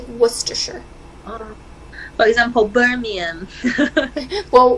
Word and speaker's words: Worcestershire: too she it's a it's an English word it's a place in England so they pronounce it strangely Worcestershire well he's on Hibernia